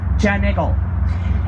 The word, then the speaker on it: Giant Eagle: There is a popular grocery store chain locally called Giant Eagle, but nobody in Pittsburgh pronounces it that way. Here it comes out sounding something like John Eagle.